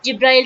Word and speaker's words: جبرائیل: اس کا تلفظ جو ہے نا جبریل بھی ہے، ایک جبرائیل بھی، اور اس کے تلفظ جبریل اور میکال بھی ہے.